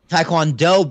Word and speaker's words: Taekwondo: gave you the taiquan it is pronounced like Thai so it's not to it's Thai tai kwon Taekwondo baby yes but yes